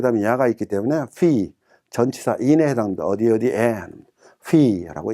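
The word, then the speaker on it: في: 그 다음에 F 발음에 이가 있고 그 다음에 야가 있기 때문에 피, 전치사 인에 해당합니다. 어디에 피라고 읽습니다.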